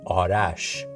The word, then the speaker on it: Arash: And if you didn't know, my correct pronunciation of my name is Arash. I say Arash because I Americanized it so people can say it quicker, more easily instead of saying it's Arash.